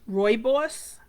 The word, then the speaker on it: Rooibos: tea, horsetail tea, and now this tea is spelled Roobios, and it said it's actually pronounced rooibos, but I would not have guessed that said rooibos, but that's the way they say you pronounce it.